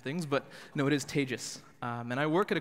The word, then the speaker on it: Tejas: That's pronounced like contagious in the English language, which, for those of you who aren't familiar with the Indian name, that's a quick mnemonic for you, and it is not Tejas.